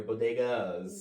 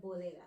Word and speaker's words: bodegas: It's some It's some gentrifiers that are going into their their their bodeas. No, you got to say it like it's properly pronounced. They're bodegas.